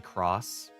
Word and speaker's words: Cross: It's pronounced cross, not X.